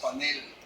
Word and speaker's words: panel: Y la Real Academia Española contesta, lo correcto es panel, debe evitarse el uso con acento en la pan.